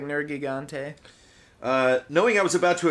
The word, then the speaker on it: Nergigante: However, I always go for the hard G.